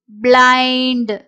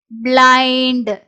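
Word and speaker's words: blind: பிளை ன் இட் பிளைண்ட் பிளைன்ட் சோ இங்க ஐ என் டி I suppose இதை ஈ ன்னு நான் நினைச்சுக்கிட்டேன் அப்படின்னா இண்ட் அப்படின்னு சொல்லி வரும் பிளிண்ட் அப்படின்றது வந்து இதுல தப்பு சோ பிளைன்ட் அப்படின்றதுதான் இந்த வேர்டோட கரெக்டான உச்சரிப்பு ஐயோட சவுண்ட் முன்ன பின்ன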